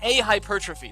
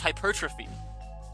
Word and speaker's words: hypertrophy: She said a hypertrophy. That's not how you pronounce a word. It's just hypertrophy.